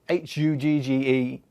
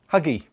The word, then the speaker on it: HÜGGE: Now, personally, I keep finding myself saying Huggy. I keep seeing the E at the end.